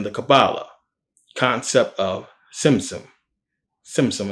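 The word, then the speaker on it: Tzimtzum: Simsim, it has a T, but you pronounce it like tsunami.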